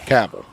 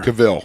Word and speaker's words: Cavill: exactly like gaville and I realize I've been saying Henry's name wrong oh really the entire time Kush corrected what is it caval caval it's caval what is it what were we saying before Caville Caville yeah like like a European but